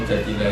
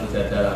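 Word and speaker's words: المجادلة: Memang Mujadilah itu beberapa ulama bacanya Mujadilah, perempuan yang mendebat Tuhan. Tapi ada ulama yang baca Mujadalah karena diambil makdarnya kan, jadalah yujadilu mujadalatan. Kalau orangnya berarti mujadilatun, pendebat.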